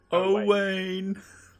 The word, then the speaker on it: Owain: o-w-a-i-n oh wayne yeah is it like oh wayne or like a wayne um oh wayne like two chains if you're trying to think of how to pronounce it just say two chains in your head first and then change it to oh wait okay perfect and then